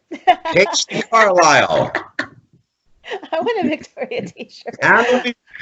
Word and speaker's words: Carlisle: Carlisle, like the town in Pennsylvania. The man's name, Carl, and Isle, like an island.